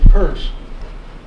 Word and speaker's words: Peirce: An article by Charles Sanders Peirce, pronounced Peirce, titled "The Fixation of Belief."